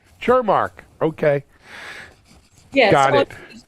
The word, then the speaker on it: Cermak: So please, how do we pronounce your name? Thanks, Alan. It's Cermak. Cermak, okay. Yes, got it. Cermak.